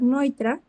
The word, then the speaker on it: Neutra: Eh, aunque dice neutra, se pronuncia Richard Noitra.